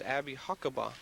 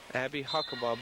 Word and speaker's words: Abby Huckabee: Correction on the pronunciation, that's Abby Huckabee. Abby Huckabee.